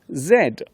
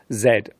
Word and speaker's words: Z: is the letter Zed in British English we usually call this the letter Zed in American English this letter is pronounced Z which can cause some confusion for those looking at the alphabet in other countries Zach zebra zip zither